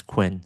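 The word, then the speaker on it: Qwen: Quen, okay, or Chenun if you if you are familiar with Chinese, but I prefer to pronounce it as Quen.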